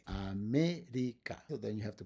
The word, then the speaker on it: América: Words like that are going to be, for example, América. América. And the stress is in me. América.